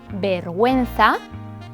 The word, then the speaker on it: vergüenza: Pero existe la posibilidad de que esta U sí tenga sonido. Por ejemplo, vergüenza, pingüino. La letra G se pronuncia G con las vocales E, I.